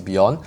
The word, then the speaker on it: Bjorn: So it's like Beyonce pronounced without the say. So it's Bjorn.